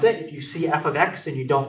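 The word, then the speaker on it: f(x): a problem and you're confused because it has f of X that's how you pronounce it if you see f of X and you don't like it you can go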